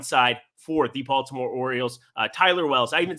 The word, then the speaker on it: Tyler Wells: I'm telling you, Taylor Wells, really bad at throwing of baseballs here on one side for the Baltimore Orioles. Tyler Wells, I even said his name wrong.